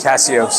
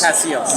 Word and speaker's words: Cassios: Tell us a little bit about your role as I'm not going to pronounce this. Cassios. Cassios.